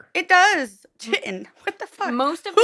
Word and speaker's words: Kytin: So I protection I pronounced it chitan for a very long time. Um if it I believe if it is ch Mhm. It is uh chitten. No that's not right. Rhymes with kitten.